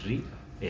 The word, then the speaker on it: ríe: Porque si te paras un poquito a pensarlo, son dos sílabas. Ri, e.